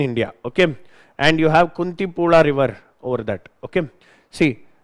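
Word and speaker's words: Kunthipuzha: And you have Countipula River over that. Okay. See uh I guess it is pronounced I mean in Tamil and uh in Malalam you don't say zed, you say la.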